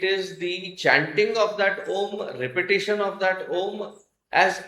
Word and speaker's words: Om: There are 3 syllables in there: A, U, and Ma. Akara, Ukara, and Makara. A plus U becomes O, and then you add Makara, it becomes Om.